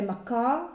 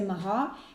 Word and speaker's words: Maachah: They say it's the C is silent. So if you want to say Makar, but let's say Mahah, had given him a third son, and this son...